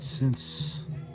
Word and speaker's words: Samhain: But since I wanted to click on this